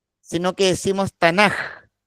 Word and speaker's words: Tanakh: la letra en hebreo, va finalizando una palabra, se pronuncia como J. Por eso no decimos Tanakh, sino que decimos Tanaj.